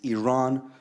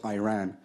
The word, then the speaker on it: Iran: the Iranian people but you're pronouncing our country's name wrong our country is named Iran not Iran please once and for all let's get this